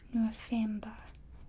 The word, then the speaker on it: November: So the V is that F sound, so it's November, and the O is a O.